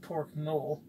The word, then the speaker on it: mole: I've been told by those that know it doesn't have an accent on the end, so it's really just pork mole.